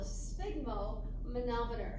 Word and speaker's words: sphygmomanometer: This whole contraption up here, this instrument is called a sphygmomanometer. That's how you pronounce that.